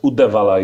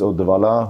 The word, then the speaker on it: Uddevalla: Uddevalla is your birth city, if I pronounce it well. Almost. Almost. How is it pronunciation? The town is Uddevalla, who is actually at the west coast of